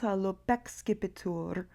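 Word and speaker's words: lupo excipitur: There's an elision between lupo and excipitur, where this syllable, because it ends in a vowel, drops out, and we just get one syllable. They sort of run together. Lupexcipitur, when you speak the poem.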